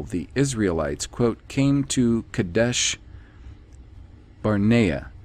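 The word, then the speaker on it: Kadesh Barnea: israelites quote came to kadesh barnaya not v i the the b is not pronounced v kadesh barnaya deuteronomy 1 19. kadesh barnaya is vocalized as kadesh barnia however the town in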